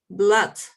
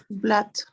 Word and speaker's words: blood: so much another one blood yes it's an exception during pronunciation we use it to hose together like this o and O usually it's pronounced like a u but blood is an exception a grammar exception this